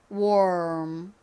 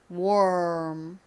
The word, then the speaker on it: warm: 발음으로는 어떻게 해야 되죠 먼저 w a war 발음을 하다가 입을음 요렇게 바꿔 주시면 되죠음 요렇게 하시면 안 되고요 월 소리를 내면서 바로 자연스럽게음 요렇게 입 모양을 바꿔 주셔야 됩니다 자 해볼까요 warm warm 한 번만 더 해